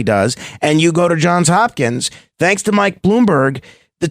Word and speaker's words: Johns Hopkins: I'm only joking but but to go to John's Hopkin and it's pronounced John's Hopkins correct cor that's my understanding I never went